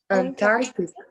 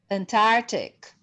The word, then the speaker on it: Antarctic: Antarctic. Antarctic. Because the C is silent, right?